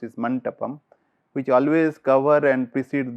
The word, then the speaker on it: mandapam: Basically, it is a mandapam. This pronounced is mantapam, which always cover and precede the door leading to the cell.